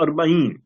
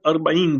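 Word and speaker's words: أربعين: Waziyatul Arbain. Now you can see the word Arbain there mentioned, right?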